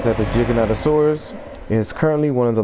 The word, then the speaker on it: Giganotosaurus: The way it is said is you think it would be Giganotosaurus because it's a G, but the way it's actually said is Giganotosaurus, which makes it sound like it has a J in it.